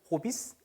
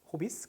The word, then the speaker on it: Hobbys: 근데 이제 독일어는 있는 그대로 읽습니다. Hobbys, Hobbys. 그쵸? 조금 귀엽죠, 발음이.